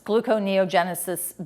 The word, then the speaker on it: gluconeogenesis: So we wake up, we're in this hungry state, and the next thing you know, we're able to go through gluconeogenesis.